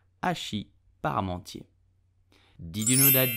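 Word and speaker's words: hachis: my work okay so you will pronounce it Ashi the H is totally silent so do not pronounce it but just Ashi paramounty did you know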